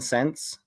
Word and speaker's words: Sentz: And the 2 lines of hypo are BHB and Sense. And Sense is spelled Sentz.